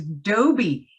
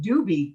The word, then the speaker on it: Dobie: I'd be like, his name is Dobie. And she couldn't pronounce it. So she always called him Doobie.